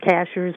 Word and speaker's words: Cashiers: mountains and uh it's it's pronounced cashers but it's like a